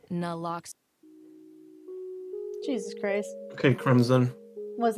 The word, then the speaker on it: naloxone: Naloxone reverses an opioid overdose, even if you mispronounce it. For the record, it's naloxone.